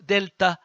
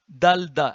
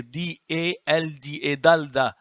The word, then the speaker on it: dalda: You see, not delta, dalda, and here D-A-L-D-A, dalda.